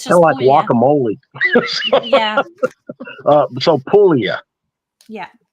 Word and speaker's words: Puglia: I'm just helping you you don't pronounce the G in Italian I don't we never we don't even know why it's there okay yeah it's just guacamole yeah so Pula yeah Pula Castell delont it was